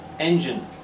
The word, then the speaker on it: engine: It's the first syllable. Engine. So the gine becomes gin.